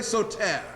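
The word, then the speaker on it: Soter: and his nickname was so Ted everybody say so Ted here able to write it down it's spelled s o ter so Ted brothers and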